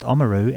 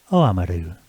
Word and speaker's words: Oamaru: Before we start the show, I noticed, Frank, that you pronounced Oamaru as Oamaru.